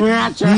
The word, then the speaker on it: G Naturals: Silent G lang Half siya eh. silent G. Naturals.